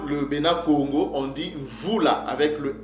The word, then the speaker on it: Mvula: Alors ce mot-là, c'est prononcé Mvula.